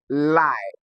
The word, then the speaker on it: lie: Now in monoselabic words that have letters I E just like in the word lie. L I E, monosyabic words with I E do not produce the long E sound.